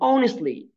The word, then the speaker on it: honestly: عشان هو هي مانجد هير بزنس سكسسفلي اند اونستلي. كلمه اونستلي مش بنطق التي فما اسمهاش اونستلي اونستلي تمام.